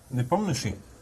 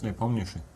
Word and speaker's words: Nepomniachtchi: But you're pronouncing the sh quite well. That's what I do. I struggle with the R's, but the sh's, I'm very good at. Yeah, sometimes it's spelled, well, in German at least, SCHTSCH, just Yeah, for it one feels like a for waste one of sound. letters, right? Yeah. It's just sh.